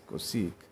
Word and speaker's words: cosec: whatever you call it someone call it cossack or someone pronounce it as cosec i think this is the difference between the british and u.s pronunciation of this word and now we have